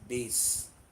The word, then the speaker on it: bass: to me very carefully first is bass be a s s some people mispronounce it and people call it bass it is not pass it is base this is what like